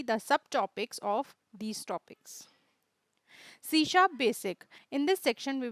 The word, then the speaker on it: C#: We write C#, C hash, but we pronounce it C#.